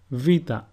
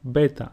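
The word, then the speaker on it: βήτα: Vita and not beta, like most people say. It is pronounced V, and a sample word is vima, which means step.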